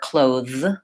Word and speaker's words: clothes: of the word but it's actually pronounced with the Z sound clothes and for many